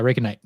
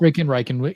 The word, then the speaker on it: RaikenNight: It's fucking cool to hang out with you, Brahma, Matt, and good to meet RaikenNight. Is that how you pronounce it? Yeah, RaikenNight. Cool. Reiken. Either way works.